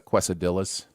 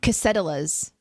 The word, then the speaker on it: quesadillas: great twist on it and it's it's it's pronounced uh quesadillas uh just so you know casetalas is how uh our good friend ian produces uh pronounces it cassette elas because settlers yeah just prepare yourself for that